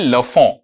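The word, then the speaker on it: Lafont: এটার উচ্চারণটা কিন্তু হবে লাফ ঠিক আছে তোমরা নিজেদের মানে এক্সামে লেখার জন্য লাফন্ট বলতে পারো ঠিক আছে বাট একচুয়াল প্রোনাউন্সিয়েশন ইজ লাফ ঠিক আছে এটা প্রবাবলি একটা ফ্রেঞ্চ নেম তো সেইজন্য আর কি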